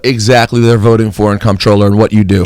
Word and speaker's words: Comptroller: Ladies and gentlemen, Eliot Spitzer's here running for the Comptroller of New York City. How you pronounced it right.